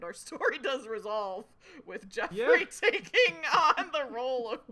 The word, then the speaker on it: Geoffrey: spelled Geo, but I think that is still just pronounced Geoffrey.